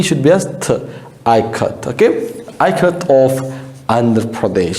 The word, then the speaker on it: Ikat: Next, K-A, ka, K-A, as in Kamala.